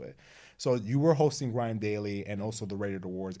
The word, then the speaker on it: GRM Daily: So actually transitioning into that, hosting Grime, I pronounce it Grime Daily.